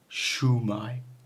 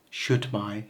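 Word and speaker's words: Shwmae: terms of little areas there's many different ways to pronounce this so shumai you'll hear all of these give or take wherever you are so just be aware that they exist I Shai my occasionally okay now if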